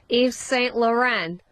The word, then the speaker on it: Yves Saint Laurent: Yves Saint Laurent.